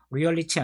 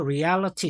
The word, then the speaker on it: reality: 얘는 real이고요. 이거를 reality 이렇게 읽지 않아요. 그러니까 여기에 똑같이 real이라는 단어가 들어있어도 철자가 바뀌면은 발음도 와장창 전체적으로 다 변하는 단어들이 많아요. 그러니까 그것까지 신경 쓰고 앞으로는 공부하셔야 되고 얘는 참고로 reality 아니고 reality 이렇게 읽습니다.